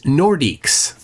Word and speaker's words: Nordiques: Veganux says it's pronounced Nordiques.